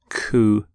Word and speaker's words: coup: the pronunciation of coup you don't say the P don't sound the P at the end coup here's the your next